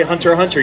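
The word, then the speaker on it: Hunter × Hunter: that yep it's actually you say hunter hunter you never say the x it's like the queue is silent all right ladies and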